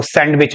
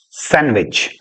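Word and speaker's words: sandwich: पढ़ के देखिए सर सैंडविच याद रखना इसको सैंडविच नहीं कहते डी साइलेंट है सैंडविच सैंडविच सैंडविच आइए सैंडविच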